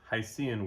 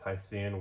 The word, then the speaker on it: Hycean: And it's Hycean worlds. It's spelled h y c e a n, which is a portmanteau. I think that's how you pronounce it of hydrogen and ocean.